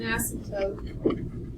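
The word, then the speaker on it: asymptote: has a vertical asmt there is a silent P an ASM toote at x = -4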